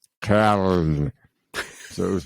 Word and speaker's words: Köln: I have a friend whose wife is German, and the way you pronounce Cologne in German is Köln.